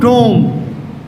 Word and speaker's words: tomb: People from university, they say education starts from tomb, from womb to tomb. Very wrong. See here, B after ma is not pronounced. It remains silent. So firstly it's tomb.